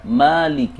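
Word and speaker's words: مالك: Jadi, cara membaca Maliki di sini adalah dengan dua harakat atau dua ketukan.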